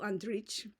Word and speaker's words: Andrić: and Yugoslavian literature evil andrich like the C with the accent mark over it it's uniquely like Serbian cilic letter it's kind of pronounced like a TS C kind of like that but anyway that's off